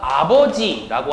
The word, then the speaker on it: 아버지: 우리가 아버지라고 하는 말이 있다면 요 아자라고 하는 말에 주목해서 보실 필요가 있다는 거죠. 바로 요 앞에 있는 이응, 이건 자음이지만 실제로 이응이 첫 소리로 들어가는 말은요, 묵음이라고 소리값이 없는 겁니다.